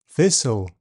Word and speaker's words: thistle: T is silent in words ending TLE, castle, bustle, thistle.